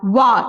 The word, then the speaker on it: one: the article a because when you pronounce this word one wa it sounds wa that is w when it sounds